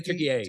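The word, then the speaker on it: Türkiye: I say Turkey A. Turkey A. Yeah. Turkey A is the name that the country goes by now to differentiate itself.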